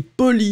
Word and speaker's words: poli: In fact, the masculine form is extremely short, P-O-L-I, and the feminine form will be pronounced exactly the same way, but then you add the E in the end.